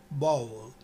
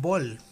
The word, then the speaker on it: bowl: pasar a los ejercicios, esta palabra se pronuncia bowl. Bowl es la palabra original de la cual muchas personas, y he escuchado en nuestro querido país de Chile, o de otros países cercanos, le llaman un bol.